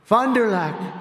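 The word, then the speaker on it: Fond du Lac: victims and he did earlier this year in Fond dulock Wisconsin fonderlac nice I love these names I wish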